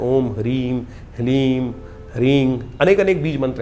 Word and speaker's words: ह्लीम: ह के पैर में र है, फिर उसमें साथ ही में ल लगा हुआ है और ऊपर से बड़ी की मात्रा बिंदी, ओम ह्लीम। इसका उच्चारण इस प्रकार से है।